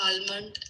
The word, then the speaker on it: almond: which were famous in Dubai, like date chocolates, almond, and so on. Almond. क्या pronunciation है इसकी? Almond. Almond. Almond. एक minute, इसकी pronunciation देखो. Almond. L बिल्कुल silent है.